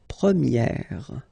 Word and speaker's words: première: And then the sound will change quite much, because if you think about the masculine form, you pronounce it premier, okay? Premier. And then for the feminine form, you will get première, okay? So it's open, this e sound.